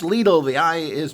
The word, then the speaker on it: Lidl: lidl and it's pronounced lethal the eye is pronounced e as in most european religions or languages etc um it's not little as the british say and other things and